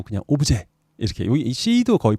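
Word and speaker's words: objet: 영어라기보단 불어인데 오브제라고 합니다. 오브제. 들어보셨죠? 예, 그때는 불어식 발음을 해서 T가 발음이 안 되고 그냥 오브제 이렇게 여기 C도 거의 발음이 안 되네.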